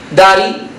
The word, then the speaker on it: daddy: Daddy, fíjate que esto es inglés americano. La D queda intervocálica, se convierte en una leve N y digo daddy.